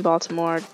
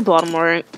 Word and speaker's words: Baltimore: Baltimore and people in Baltimore don't actually say boats where we say Baltimore like Baltimore like the T does not exist I know it's written but the T is silent so you know if